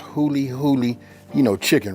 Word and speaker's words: Huli Huli: say it like this this right here is pronounced hully hully you know chicken right you got to go